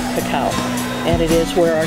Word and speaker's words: cacao: It was mispronounced as cocoa, but it's actually cacao.